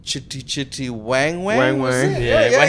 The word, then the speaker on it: Wang: Is that the first time you hear his name being pronounced properly? Wang.